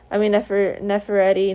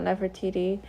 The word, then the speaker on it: Nefertiti: Nefereti, not Nefertiti.